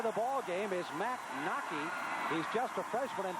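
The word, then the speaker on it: Wnake: Nockey, by the way, name is spelled W-N-A-K-E, but pronounced Nockey.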